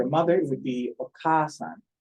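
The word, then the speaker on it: お母さん: So for a mother, it would be okasan. There's two A's. You can see it's the second letter here is ka, and there's a second a after it. So it's a long A sound.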